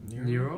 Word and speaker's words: Nero: Is that how you pronounce it? The Nero?